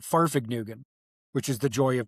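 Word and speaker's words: Fahrvergnügen: It's called Farfig Nugan which is the joy of driving is actually how it's pronounced and that actually means a driving journey.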